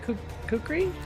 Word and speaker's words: kukri: Oh my god, you're gonna have to pronounce it for me. Is it kukri?